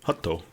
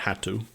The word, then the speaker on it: Hatto: Because you can say never had to. Hatto. Not had to.